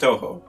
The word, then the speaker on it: Touhou: and it's quite good quite good and it's pronounced touhou i think so labyrinth of touhou gensokyo and